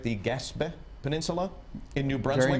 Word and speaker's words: Gaspé: Now, despite that France being so low in your DNA, your ancestry does link you to the, am I pronouncing this right, the Gaspé Peninsula in New Brunswick.